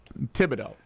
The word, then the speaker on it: Thibodeau: Tibido. I just want to make sure I pronounce that correctly.